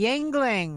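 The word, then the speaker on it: Yuengling: what beer i'm drinking uh i should be yingling right yeah i'm glad you said it right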